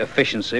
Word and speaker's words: A Fish In Sea: surrounded that's the first from 3D efficiency which is spelled like a fish in C and it's called alone